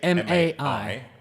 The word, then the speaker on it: Mai: Her name is spelled M-A-I.